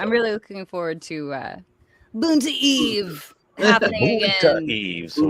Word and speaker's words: Boonta Eve: Boonta Eve. Every time. Every time. That's how you have to say it. Boonta Exactly. Eve. There's a proper way to say it, and that is definitely it.